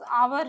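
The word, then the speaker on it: hour: ठीक है, एग्जाम्पल में हम लेते हैं, सपोज आवर है। आवर किस लेटर से स्टार्ट हो रहा है, एच से। एच क्या है, कॉन्सोनेंट है, बट आवर जब भी बोलते हैं तो वॉवेल साउंड निकलता है।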